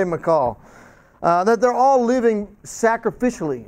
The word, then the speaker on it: Michal: David and Jonathan and Michal by the way that's what I pronounce it and I see Mike out there I'm gonna play if you know watch the way we pronounce it but I'll say McCall that they're all living